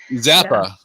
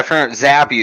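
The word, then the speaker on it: Zappe: have replaced him here Zappa yeah yeah zappy is how they're pronouncing it now it was zap at first now it's Zab B that was something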